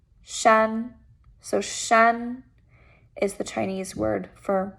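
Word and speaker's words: 山: for mountain in chinese and this word is pronounced shan shan so shan is the chinese word for mountain so if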